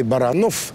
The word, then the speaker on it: Баранов: Америки маленькая православная церковь музей Баранов су ударением на последнем слоге едва ли не главная